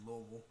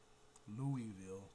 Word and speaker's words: Louisville: I said Louisville. Y'all might not know that. Y'all might know it more as Louisville or Louisville. But us Kentuckians, for the most part, don't pronounce it like that.